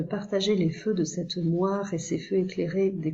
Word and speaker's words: moire: un E muet, comme moire ou mémoire, un E qu'on prononce pas, on ne dit pas moireux, mémoireux, il y a un E muet.